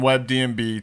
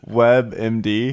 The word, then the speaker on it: WebMD: 2 years ago, it was really bad, and I was in bed on WebDMB trying to figure out why. We keep saying it wrong. What is it? WebMD.